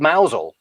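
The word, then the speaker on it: Mousehole: cornwall that is called mousel but it it's spelled slightly differently yeah it's it's it's spelled like mouse hall but of course if you say that the cornish will correct you and they know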